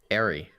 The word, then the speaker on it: Ari: How do you say it then? Ari.